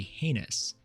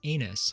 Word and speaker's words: heinous: A slow or weak recruit is said to be heinous, which many recruits and in fact drill instructors have misheard and will continue to mispronounce as anus for their entire career.